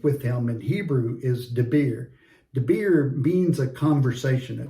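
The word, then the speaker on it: דביר: Debir is D-I-B-B-E-R, and it's more like a two-way conversation, as opposed to just like an oracle pronounced by God.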